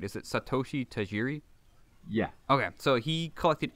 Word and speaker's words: Satoshi Tajiri: Is it Satoshi Tajiri?